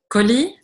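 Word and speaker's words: كُل: To a person, like kuli. To a woman, you would say, like to the feminine is kuli. And to the masculine, it's kul, like enta.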